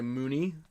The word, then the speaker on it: Mooney: Like when people moon somebody. Yeah. Like I always think when I see that name. Oh, so Mooney.